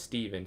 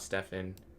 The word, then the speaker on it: Stephen: My name is Stephen. Stephen, but my misp pronunciations are probably not as crazy. But I get called Stefan a lot.